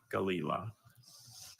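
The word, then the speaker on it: gelilah: Galila. Galila. G A L E I L A. Galila. I'm sorry. Galila is spelled G E L I L A H.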